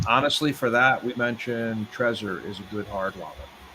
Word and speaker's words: Trezor: about trezor uh is it how do you pronounce it treasure treasure yeah yeah so i heard a very